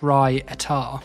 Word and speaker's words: raita: Pronounced like Rai Atar.